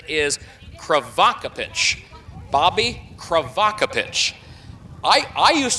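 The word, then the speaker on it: Crivokapich: I believe that Brad told me that the pronunciation is Kvakapich. Bobby Kravak. I I used to say Krevocapich, but but Brad Dy had said Kvakapich at Springfield when Bobby drove a few days ago.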